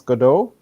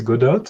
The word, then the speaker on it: Godot: uh i think there everyone can give their own pronunciation and uh say godo and uh well i know juan says godot and like even spanish speaker so to me i think for every one of us we're different language speakers like native